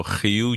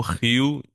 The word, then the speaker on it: Rio: pronúncia, como por exemplo, você vê que eu pronuncio rio, né? Rio, então é o Rio de Janeiro, né? A gente não fala Rio, a gente fala Rio.